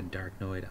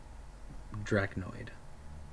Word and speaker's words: Draconid: And he has a Darknoid operative. Draconid. That's how you say it, Draconic.